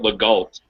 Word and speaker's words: Legault: Lago. Oh, like the go. Sorry. Trist. French, so it's a whole word, but you only pronounce half of it. Or Okay. you can be British and call it Legault.